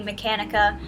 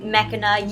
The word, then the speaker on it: Mechanica: posted yesterday of Lady Mechanica. I kept on saying Mechana. Yes, I know I'm saying her name wrong.